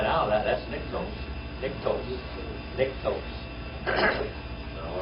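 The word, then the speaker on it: νυκτός: That's niktos.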